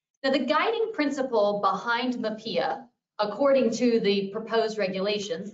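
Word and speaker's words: MHPAEA: And somebody asked the other day, how do you pronounce that? We pronounce it MAPIA, the Mental Health Parity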